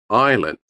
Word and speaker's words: island: Island. S. Knowledge. In this word, we have two silent letters.